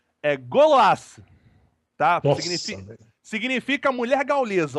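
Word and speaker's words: Gauloises: Aí você tinha uma Yamaha e só pra constar, caros amigos, eu tava até colando aqui no chat, a pronúncia correta da marca de cigarro é Gauloise, tá?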